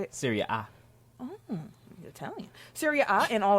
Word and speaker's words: Serie A: Serie A.